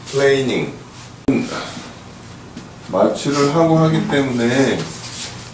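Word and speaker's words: planing: 칼이라는 거는 루 루 플레이닝 발음을 잘해야 돼 플래닝 아닌거 루 플레이닝 마취를 하고 하기 때문에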